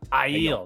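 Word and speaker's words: Aiel: eel corpse uh is that how do you pronounce it an ideal and i heal i heal that's right and i yield corpse so the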